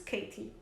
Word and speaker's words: Katé: dada a conhecer pela minha tia Katé, pronuncia-se Katie, que vivia em Kesibrac, perto de Dombovar, na Hungria.